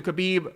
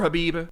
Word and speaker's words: Khabib: very heavy favored towards khabib or Habiba as some people have told me the K is silent and I think this situation and the way khabib is handle this with